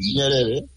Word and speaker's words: Nyerere: And, you pronounce Nyerere? Nyerere.